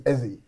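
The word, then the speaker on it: Eze: Like, I got cousins that that their surname's Ezie. And where did you get this Ezra?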